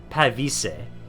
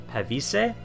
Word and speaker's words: Pavise: You don't have stakes, but I do have them on the it's supposed to be Pavise. Pavise, I believe is how it's supposed to be pronounced.